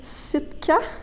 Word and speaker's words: Sitka: Donc, tu vas faire un nouvel album qui se nomme Sitka, si je le prononce bien.